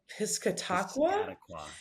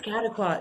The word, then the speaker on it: Piscataqua: On his rare days off, he'll be kayaking the uh Piscatwaqua Pisca Piscataqua.